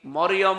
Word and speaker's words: মারিয়াম: মারিয়াম বলা লাগবে। কি কথা বুঝতেছেন? কি বলা লাগবে? কারণ এই শব্দটা আল্লাহ কোরআনে দিয়েছেন, একটা সূরায় নাজিল করেছেন, সূরা মারিয়াম। আপনার 40টা নেকি হবে এই শব্দটা উচ্চারণ করলে। মিম র ইয়া মিম, মারিয়াম, 40টা নেকি পাবেন। আর যদি মরিয়ম বলেন, 40টা গুনাহ হবে, কারণ অর্থ বিকৃত হয়ে গেছে।